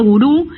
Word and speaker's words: Wúru: Mirá, Gurú se dice porque tiene el acento en la U.